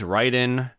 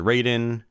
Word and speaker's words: Raiden: and that is it that is Ryden or if you prefer to pronounce it Raiden for the FM towns